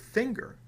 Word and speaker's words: finger: Why do we pronounce the word finger with a hard G and the word singer with a soft G?